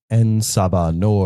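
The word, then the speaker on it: En Sabah Nur: Ensabanor.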